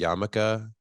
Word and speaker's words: yarmulke: I'm shocked, honestly, that you feel unsafe wearing the yarmulke.